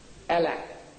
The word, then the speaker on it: Allah: Allah. So I'm telling them, I said, look, you can spell it as you like.